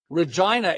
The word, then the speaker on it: Regina: Regina. It rhymes with fun.